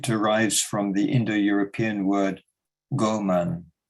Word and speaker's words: Ghoman: If we look at the etymology of the word human, it derives from the Indo-European word goman, that's spelled Ghoman, which means of the earth or earthling.